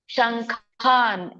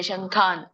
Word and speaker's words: ಶಂಖಾನ್: ಇದ್ದೇನೆ ನೋಡಿ ಸೌಭದ್ರಶ್ಚ ಮಹಾಬಾಹು ಶಂಖಾನ್ ಇಲ್ಲಿ ವ್ಯಂಜನ ಇದೆ ಶಂಖಾನ್ ಶಂಖಾನ ಅನ್ನಂಗಿಲ್ಲ ಶಂಖಾನ್ ವ್ಯಂಜನ ಇದೆ ಹಾಗಾಗಿ ಹಾಫ್ ಅನ್ಬೇಕು ಯಾವಾಗಲೂ ವ್ಯಂಜನ ಅಂದ್ರೆ ಅರ್ಧ ಹೇಳಬೇಕು ನಾವು ಅರ್ಧ ಉಚ್ಚಾರಣೆ ಮಾಡಬೇಕು ಶಂಖಾನ್ ಶಂಖನ್ ಇದು ದುದ್ದಮು